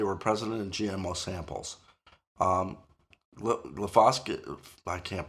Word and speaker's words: glyphosate: Glyphosate, I can't pronounce it.